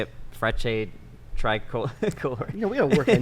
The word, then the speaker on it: Frecce Tricolori: Frecce, Tricolori.